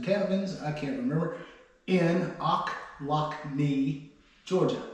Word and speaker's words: Ochlocknee: in O lockne Georgia akne it's spelled o c h l o c k or l o c k NE e e akne Georgia it reminds me like ouch I lock my knee so it's a